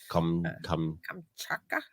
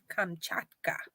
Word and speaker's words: Kamchatka: Kamchatka?